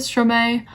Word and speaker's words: Stromae: was hit yeah so m-a-e in english is pronounced as mei rather than my yeah so that's just